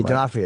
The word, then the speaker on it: D'Onofrio: D'Onofrio, yeah.